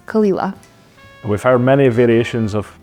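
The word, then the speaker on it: Caol Ila: one that looks simple but it isn't it's kalila we've heard many variations of pronunciation for this but as Kelly says the correct pronunciation is Kila this means sound of Isa in GAC it's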